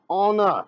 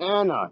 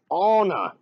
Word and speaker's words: Anna: It's pronounced Anna, not Anna. It's Anna.